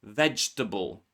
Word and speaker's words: vegetable: Silent E appears inside words like vegetable. You can see here actually two E, two E's are silent. Not the first one, but the second and the third one. Vegetable.